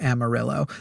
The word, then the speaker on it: Amarillo: Amario, right? The color yellow, but it is they will correct you. If you say Amaro, they will correct you and say in Texas we pronounce it Amarillo.